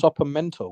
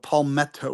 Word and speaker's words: palmetto: Sopamento. What? Remember, saw palmetto, Spell it. Spell it. METTO, not mento, palmetto with two T's, two T's.